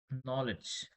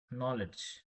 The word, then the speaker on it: knowledge: Before as I discussed before honest honest we have to always write an not a knowledge knowledge K is a silent word chalk chalk in W